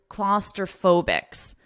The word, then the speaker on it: claustrophobics: The more common expression is claustrophobics. Listen to the pronunciation, claustrophobic, claustrophobic. And then you add an S to it to mean all claustrophobic people, claustrophobics, claustrophobics.